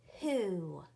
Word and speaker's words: who: This word is who. Who. And when I look at this word, if I sounded out how it looks like it's spelled, it would say w-o. Well, that doesn't sound out who.